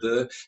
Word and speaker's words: veux: So when you say je veux, it will spot the X.